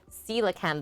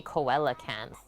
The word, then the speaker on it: coelacanth: the best way titan coelacanth that's the one like the english brain wants to say koala cans thanksgiving elements you finally